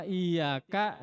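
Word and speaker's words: إياك: Iya Kak nabudu wa iyyaka nasta'in ingat cara Icha Iya Kak Ras duitnya harus jelas itu semua punya kalau kalian bacanya tidak memakai tasdid maka artinya jauh berbeda Iya Kak Iya Kak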